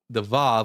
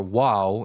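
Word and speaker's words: וָו: the Yud, the Hey, the Vav or Wow in ancient Hebrew, so it's pronounced like with a V sound. I mean a W sound.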